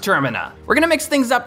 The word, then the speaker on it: Termina: It's pronounced Termina. No, you're pronounced Termina.